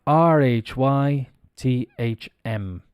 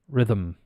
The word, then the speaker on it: rhythm: it's not riff rhythm the th is pronounced it's vocalized and becomes Rhythm the for example we